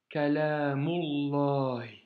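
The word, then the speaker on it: كلام الله: Mais en revanche, vu qu'il est précédé d'un mot, nous devons faire la liaison. Donc ici, nous avons El Qur'anu Kalamullah.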